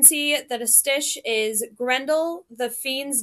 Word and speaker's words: Grendel: So Grendel, the fiend's name. So we have Gren and fiend. Those are the stressed syllables, and dull, the name, are the unstressed.